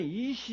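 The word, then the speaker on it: אִישׁ: 남자는 이시 이렇게 됩니다. 이시라고 발음을 합니다.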